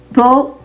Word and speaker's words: peu: Option A, Peu, is a closed U sound. That means our mouth should be more closed when we pronounce it.